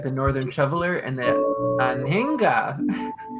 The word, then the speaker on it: Anhinga: We've got the Northern Shoveler and the Anhinga. Aninga. Ooh. That's how you say it.